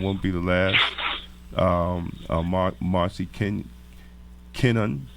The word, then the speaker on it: Kenon: Marci Kenon, right? That's right. Did I pronounce it right? You remember Larry Kenon, the basketball player? Okay, got you. Like that.